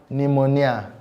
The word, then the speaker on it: pneumonia: It is silent in both A and B because it is pronounced as receipt and pneumonia.